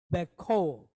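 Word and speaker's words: בכל: This is going to sound like an O because we're in a closed syllable. And then O, right? So bekol. Bekol.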